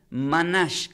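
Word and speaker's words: manah: La palabra preparado del hebreo, quiero que tomen nota, se pronuncia como manash, con H en el final, M-A-N-A-H.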